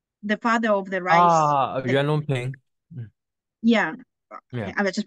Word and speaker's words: Yuan Longping: Yuan Longping. Yeah, Yeah. I just pronounced it wrong.